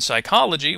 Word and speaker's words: psychology: the sh sound in Psychology we recognize that the p is silent and that the CH